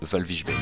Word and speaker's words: Walvis Bay: Namibi et plus précisément Walvis Bay que l'on prononce Valvish Bay.